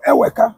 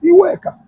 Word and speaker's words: Iweka: They turned it to Eweka. Which one be Eweka? What kind of pronunciation is that? Eweke is Iweka. As time graduates, as time, you know, goes on, they begin to modify pronunciation. They begin to modify alphabets. That Eweka is Iweka.